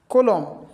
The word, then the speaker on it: column: For instance, column dam. If you not say column is not pronounced N. N is silent.